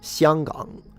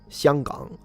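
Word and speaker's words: 香港: You pronounce it Xianggang. Xianggang. That's how you pronounce it in Mandarin.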